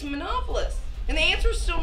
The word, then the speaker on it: Manopolous: nightmare you seem tense mrs manpoles monopolist it's monopolist it's not that difficult to pronounce and yes yes i'm